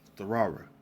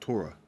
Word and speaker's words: Torah: the real actual pillow hebrew uh how you pronounce it uh therara all right not torah right there's no o in the hebrew for